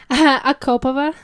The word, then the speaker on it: Akopova: And our guest today is, how do you say, Akopova? Akopova. Akopova.